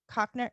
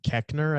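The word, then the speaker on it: Koechner: tony colette oh david cochner how do you say his name kechner i believe okay cheetah pharaoh she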